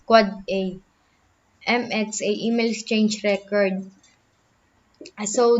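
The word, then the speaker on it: AAAA: server a a and n divides ipv6 address pronounce quad a MxA email change record so the it can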